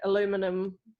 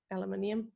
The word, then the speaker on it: aluminum: we get a gradient from the these are aluminum aluminium aluminum gotta remember my american pronunciation um aluminum lines and they get very